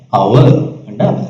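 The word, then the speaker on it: hour: Cover வாசிக்கிறோம் இல்ல தானே, அவர் ஏச் சைலண்ட் லெட்டரா இருக்குது.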